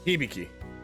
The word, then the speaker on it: Hibiki: Hibiki called in sick Hibiki that's how that name is pronounced that's Daiichi and Hibiki